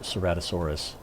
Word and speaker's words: Ceratosaurus: here my seven-year-old had to tell me this pronounced ceratosaurus so we're really going to be missing him